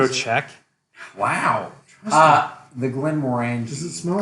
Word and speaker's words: Glenmorangie: I pronounce it the Glenmorangie. Glenmorangie.